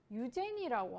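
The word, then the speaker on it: Eugénie: 이 런던의 집에서 이 사랑에 빠진 여인의 이름이 바로 유제니라고 합니다. 유제니. 자, 이 유제니라고 하는 뭐 유진이라고 읽기도 하죠. 이제 영어를 어떻게 읽느냐에 따라, 스펠링 어떻게 읽느냐에 따라 다른데, 이 유진이라고 하는 여자분을 엄청 사랑하게 됐어요.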